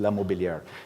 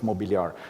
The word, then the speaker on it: Mobiliar: 2 days ago that in English, like in non-Swiss German language, they call themselves in the French pronunciation, which is Mobiliar. In German, it's Mobiliar.